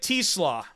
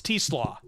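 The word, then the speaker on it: TeSlaa: It is Isaac Teslaw, wide receiver by Teslaw, not Tesla, by the way. It's Teslaw, spelled like said like Kleslaw, wide receiver out of Arkansas.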